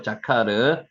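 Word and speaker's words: זכר: 자카르 한번 해 보세요 자카르 자인하고 요게 뭐죠 카죠요니다 자카르 여기게 아 발음이고 요것도 아 발음이 자카르 우리가 하나님 나라에 이르기까지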